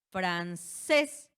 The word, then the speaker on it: francés: Francés, francés. Recae la sílaba tónica en la última, es aguda, y la regla nos dice que si termina en NS vocal, francés termina en ¿qué?